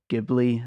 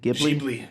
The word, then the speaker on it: Ghibli: People call them the Irish studio Ghibli. Is that how you pronounce it? Ghibli.